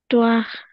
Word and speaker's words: histoire: এটা উচ্চারণ করে নি দেখেন, হিস হবে না, এটার আশ, মানে ও এর মতো তারা উচ্চারণ করে আ। তাহলে ইস, আপনি বলেন ইস, his, ইস তোয়াখ। histoire, বলা, তাহলে দে, আর এখানে এইচ থাকলেও কিন্তু লিয়াজও হবে, তাহলে কি হবে, দে জিস্তোয়াখ, দে জিস্তোয়াখ।